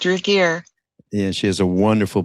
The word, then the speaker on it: Ragir: Is that how she pronounces it? Ragir. That's correct, Ragir.